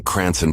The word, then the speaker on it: Cranston: department in Rhode Island they meant to type Cranston but Florida officials may have misunderstood a road Islander pronouncing cranon Paulie's Department in their famed accent the report details that